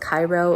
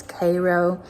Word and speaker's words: Cairo: So you would expect this town to be pronounced Cairo, and it's Cairo.